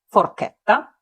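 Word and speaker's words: forchetta: у словах чиполла чена але якщо між ч та голосною і або е з'явиться Ака то маємо кі ке як у словах форкета Яві теж саме правило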